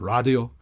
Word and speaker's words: Radio: It opens right up with Deutschland, and then there's Radio, but it's actually, Till Lindemann, of course, pronounces it Radio, Sieg Dich, Auslander.